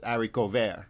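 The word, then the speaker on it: haricot: talking about mispronunciations and it's not it's aric co okay see yeah I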